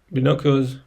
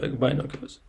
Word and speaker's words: binoculars: in the dictionary again and I learned that binoculars is pronounced like B no not binoculus table 10n is B an interesting thing is